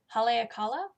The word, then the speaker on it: Haleakala: main body pattern, is something that I can't pronounce by Cookie A. I'm going to try though. Haleakala. It is Haleakala.